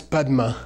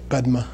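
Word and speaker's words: པདྨ: a book and that's badma that's the Tibetan way of squishing the the two syllables together badma okay and the Mongolian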